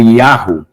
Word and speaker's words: Yahweh: Bom, aí o nome de Deus, ele é pronunciado, né, como Yahweh, no final, tá? No começo é Yeho, tá? No começo das palavras é Yeho, no final é Yahweh.